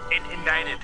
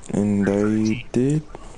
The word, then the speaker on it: indicted: Indicted. There's a C written for the... Indicted?